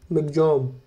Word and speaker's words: Michaung: ऑन December 5 cyclone मिचोंग pronounce मिगजॉम made landfall over बापला